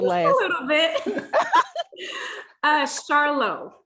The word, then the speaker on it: Charlot: a little bit uh charlo like charlotte oh lord have mercy